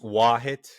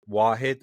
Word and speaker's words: Vahid: Uh it's just Wahit. And honestly, I didn't even know how to say my name because it's I'm Turkish and it's an Arabic name. So it's either Wahit or Wahid, but eventually it turns out to be Wah.